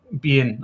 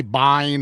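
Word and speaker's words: Biehn: How do you pronounce Bean? We say Bean in Scotland. I hear people say Bean. Bean. Bean. Bean. I've heard I've heard people say bine.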